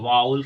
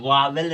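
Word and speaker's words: vowel: भी स्वर होता है जिसे वाउल कहते वावेल नहीं कहते ना वावेल मत बोलना आप लोग वो गलत प्रोनंसिएशन गलत उच्चारण है प्रोनंसिएशन मीस होता है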